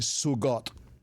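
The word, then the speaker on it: zugot: chat escriba la palabra suot así como pronuncia la voy a deletrear Z u g o t Z u g o t suot Esta es una palabra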